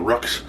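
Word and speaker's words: roux: to make it on a Rux or a Roo. It depends on which side of the Sabine River that how you pronounce that.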